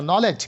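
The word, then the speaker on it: knowledge: নলেজ, ক্যার উচ্চারণ হচ্ছে না।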